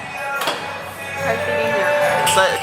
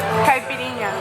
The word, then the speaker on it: Caipirinha: Excuse me, miss, how do you pronounce that? Caipirinha. Can you say it closer? Caipirinha.